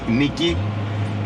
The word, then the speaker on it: Nike: brand that got influenced from the Greek word Nikki that is the proper way to pronounce it which means Victory so uh next